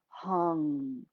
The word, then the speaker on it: hung: this one sound and the sound is hung so it's got a nasal at the end if you spelt it in english you would spell it probably h-u-n-g hang get a nice